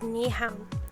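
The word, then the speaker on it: Nyhavn: to when you're in Copenhagen is Nihao which is spelled n-y-h-a-v-n and it's a very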